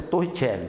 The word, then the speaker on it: Torricelli: mas torre a expressa a pronúncia torre Kelly tá de italiano Professor Mas que que